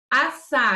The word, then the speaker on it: assar: Assar. A gente não fala assar. A gente fala assar. Então, é como se fosse só um único S.